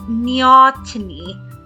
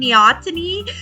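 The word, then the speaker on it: neoteny: stay in this aquatic stage, but it's called neotony. N E O T E N Y. I'll put it up on the screen. Neotony.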